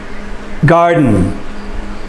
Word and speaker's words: garden: Garden. The stress is on the first syllable.